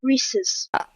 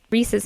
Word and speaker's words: rhesus: got it Jesus sounds sounds like it rhymes with Jesus okay the Reese's monkey